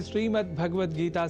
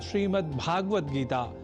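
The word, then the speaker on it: श्रीमद्भगवद्गीता: जैसा कि मैंने उच्चारण किया, श्रीमद् भगवद गीता, जिसे अनवधानतावश हम श्रीमद् भगवद गीता या श्रीमद् भागवत गीता या भागवत गीता कर जाते हैं, जो सर्वथा अशुद्ध है।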